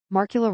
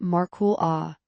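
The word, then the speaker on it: Markkula: Marcula rhymes with sparkle. Ah, it's definitely not Marul A, as the characters weirdly say it in the 1999 movie Pirates of Silicon Valley.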